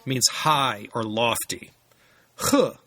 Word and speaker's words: 和: means high or lofty H in the fourth tone means to join in the singing or to chime in this character is usually uh pronounced in the second tone and the fourth character